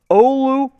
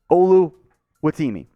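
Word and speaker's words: Oluwatimi: James Yoder Michigan Zone Olu Olu which is the easier way to say his name the full pronunciation the Virginia to Michigan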